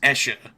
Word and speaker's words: Escher: Usher or Escher? Escher. E-S-C-H-E-R. C.